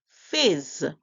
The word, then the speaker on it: fizz: same the two consonant whenever you have two consonant making the same sound you only make one sound for them so here we hear s only one time put it together f